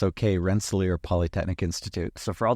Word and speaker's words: Rensselaer: I asked you how to pronounce it before, and I've already forgotten. It's okay, Rensselaer Polytechnic Institute.